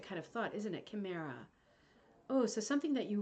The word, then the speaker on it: Chimera: designs it's called Chimera the CH is pronounced K okay so it's called Chimera thank you you see